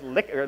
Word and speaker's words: Likert: strongly disagree five points his name was rensis likert and you pronounced it and he pronounced it Likert so everyone says Likert scale but now you know Oh actually you know it's liquor Likert so fun fact for